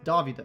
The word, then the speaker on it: Dovydas: that's my real name it's Davi this be lift away nians would say Davi this I like the way Americans said Americans say Davi this it's a little bit different anyways when are